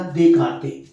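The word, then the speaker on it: Descartes: इसमें yes silent होता है बेटा, देकार्ते।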